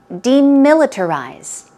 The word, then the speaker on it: demilitarize: militarize okay d militarize stress goes on mill the second syllable let's try this word three times together demilitarize demilitarize one more time